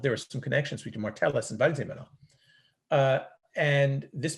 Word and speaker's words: Martellus: Uh, that's Marthesis? How do you say it? The Martellus Map.